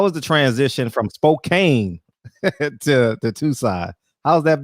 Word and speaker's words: Spokane: a big city guy just Spokane is how the locals say it so but anyway the